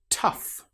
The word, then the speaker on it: tough: Tough. In this example, the gh sounds like the f sound.